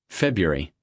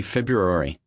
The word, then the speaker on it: February: February. Most learners say February. Native speakers often say February, or even February. The first R is often dropped entirely in casual American speech.